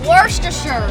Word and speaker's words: Worcestershire: We also set out to see if anyone actually knows how to pronounce this. Worcestershire.